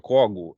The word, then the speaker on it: Cogo: Igor Kogo. É assim que pronuncia o seu nome, Igor?